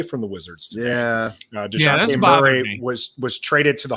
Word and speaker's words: Dejounte: We would have to give up more than KCP and Ish Smith for Devontae Murray, however you say his name. Why? So that J messes me up. It's Why? It's DeJounte.